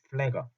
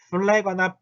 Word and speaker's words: Pfleger: 플래거. 자, PF가 붙어 있으면 발음이 굉장히 힘들어요. 이게 플래거나 플래거가 아니라 플래거입니다. 플래거. 요거 들리실지 모르겠어요. 플래거예요. F거든요.